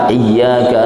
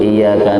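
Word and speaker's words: إِيَّاكَ: Gara-gara tidak berguru, tidak pernah tahsin, maka bacanya keliru, yaitu iyyaka na'budu wa iyyaka nasta'in. Tasdidnya hilang. Di dalam suratul Fatihah itu ada arba'ata asyara tasdidat, ada 14 tasdid.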